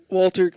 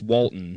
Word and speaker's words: Walton: Will we watch Walter? Please come on the pod. We'd love to have you. We got to say his name first, right? It's Walton. Yeah. There ain't no Walter.